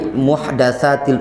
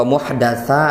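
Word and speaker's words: محدثات: umur waspada kalian dari muhdatsatin umur anak tadi membacanya wa iyyakum wa Muhadatsah hati Al umur Halo Kenapa dibaca Muhadatsah hai hai hai hai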